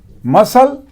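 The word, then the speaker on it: muscle: मसल, इसमें भी सी silent है, एस सी है, सी साइलेंट है, एस का उच्चारण हो रहा है।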